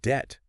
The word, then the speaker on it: debt: So if you take the word debt, for instance, that silent B, yeah, that's not random.